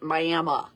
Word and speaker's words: Miami: And I did a little in the Myayma area, which is spelled like we would say Miami, only they pronounce it Myayma.